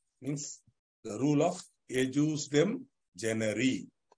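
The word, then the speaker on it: ejusdem generis: Means the rule of ejus dem generi. Pronouncing it in the way I am pronouncing it. If you still feel like I don't want to pronounce it that way, ejus dem generis, no problem.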